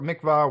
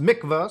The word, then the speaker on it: mikveh: So a mikveh, or mikvah, whatever the pronunciation is, I'm not Jewish, obviously, actually says pronounced mikveh, so I was right in the first one.